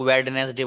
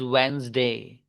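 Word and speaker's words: Wednesday: करते हैं हम लोग, वेडनेसडे बोलते हैं, वेडनेसडे। तो वेडनेसडे होता ही नहीं, बुध को बोलते हैं ना, दैट इज वेंसडे।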